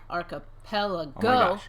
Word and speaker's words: archipelago: really it isn't hmm it has five syllables one for each of the fingers on your left hand Matthew say it slowly emphasizing the first and third syllables are pal go let's